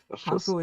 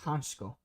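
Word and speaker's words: Hančko: So Hanko is pronounced Hansko.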